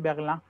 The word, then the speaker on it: Berlin: Sí, la I, la N, ya sabes cómo la pronuncian ellos, dicen Berlin.